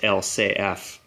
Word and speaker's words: LCF: it as LCF but in French they pronounce it as L say F which is the French